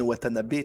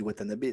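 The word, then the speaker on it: Watanabe: En japonais il y a pas d'accent genre Ken watanabé tu dis watanabé tu vois tu dis pas Watanab.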